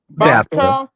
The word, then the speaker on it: BAFTA: How you pronounce it? BAFTA. BAFTA.